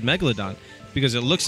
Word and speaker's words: Megalodon: oh yes please according to google the correct pronunciation is Megalodon so you see discovery channel